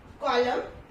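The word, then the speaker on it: column: Okay, so letter N is silent when it is used after M एट द एंड ऑफ the word. Okay, किसी भी word के एंड में एम के साथ यूज होता है, लेकिन एंड में होता है तो इसमें क्या है, एन साइलेंट रहता है. इसमें एग्जाम्पल है आपका autumn, कॉलम, सोलम and high. Okay, तो इसमें क्या है, एन क्या है, इट विल रिमेन साइलेंट.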